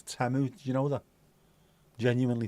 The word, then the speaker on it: Temu: It's not actually Timu either, it's Temu.